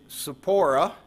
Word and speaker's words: Sephora: And then also, just an update on Zach and Sephora, his wife. I talked to Zach this week, and that is how you pronounce his wife's name. Emphasis on the zip, Sephora.